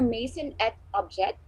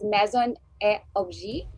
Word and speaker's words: Maison et Objet: She's also the designated Philippine office for Maison et Objet, or actually that's pronounced as Maison et Objet, a French-based professional platform on the pulse of emerging trends, talents, and a huge collection of innovations.